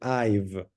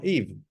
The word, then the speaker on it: I've: Sí, acá tenemos el I've del present perfect que ustedes ya vieron. Súper importante pronunciar I've y no Eve.